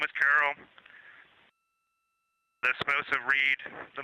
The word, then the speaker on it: Carroll: Her name was Carol, the spouse of Reed, the mother of Katie and Ellie.